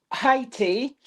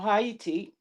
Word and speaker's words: Haiti: Scotland beat Haiti um 1 nil or Hayiti depending on how you say it.